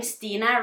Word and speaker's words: Stine: Well, my name is not really Stine Strikkepine, but my name Stina rhymes with the Norwegian word for headache.